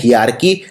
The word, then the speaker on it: hierarchy: इसको बोलते हैं हियारकी, लिखते हैं हेरारकी।